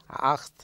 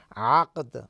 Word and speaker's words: আকদ: জি, প্রথম নম্বর হচ্ছে যে আপনি বলেছেন যে মানে যেভাবে উচ্চারণ করেছেন আখত, আসলে শব্দটা হচ্ছে আকদ।